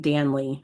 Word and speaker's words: Danley: My husband's family pronounces it Danley, like Stanley. Danley.